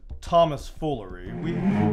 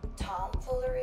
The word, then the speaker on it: tomfoolery: Enough of this Thomas foolery. We clearly have some beef that needs pounding. What be your final answer to my request for tonight's brawl? Dear heavens, you squash beef. And it's pronounced tomfoolery.